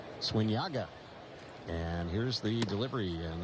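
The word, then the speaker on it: Zúñiga: So when Yago's on the mound, he spells his last name Z-U-N-I-G-A. Pronounce Swinyaga.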